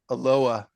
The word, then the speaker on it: Aloha: Well, my town I live in is called Aloa, but it's spelled Aloha.